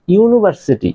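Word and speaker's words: university: যদি বি আমাদের consonant so এইজন্য এ ইউনিভার্সিটি ইউনিভার্সিটি এই ওয়ার্ড টার ইউনিভার্সিটির ওয়ার্ড টার কিন্তু উচ্চারণ বা সাউন্ডটা কিন্তু এই ইউএ সাউন্ডটা কিন্তু ইউ এর সাউন্ডটা কিন্তু ওয়াই ওয়াই ইউ ইউ এর মত আসতেছে এই জন্য এটা কিন্তু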